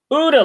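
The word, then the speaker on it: OODA: ODA Loop.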